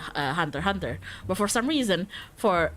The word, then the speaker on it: Hunter x Hunter: You know how some people don't spell the X in Hunter x Hunter? I don't. But some people would call it Hunter X Hunter, so X-nya silent, please.